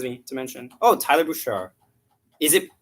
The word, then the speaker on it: Boucher: tyler boucher is it is it bouchard no it's not it's like it's really tough because it's o-u-c-h-e-r there's so many different ways the spelling and pronunciation can go it's annoying but it